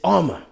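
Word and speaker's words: Armour-Davis: keep seeing it wrong it's not uh or more it's it's armor like under armor so then he slipped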